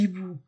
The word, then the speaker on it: hiboux: Je ne dis pas les hiboux. Je ne fais pas liaison. Avec un H aspiré, je ne fais pas de liaison.